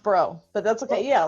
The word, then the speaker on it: Braud: Well, Bro, it's pronounced Bro, but that's okay. Yeah, like BRO. Oh, so it's French. Yes, the D silent.